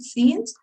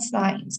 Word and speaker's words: scenes: only tip another thing careful with the pronunciation of the word scenes right remember it scenes not signs because if you say science it looks like you're saying science from since yeah and it's not the same but you can always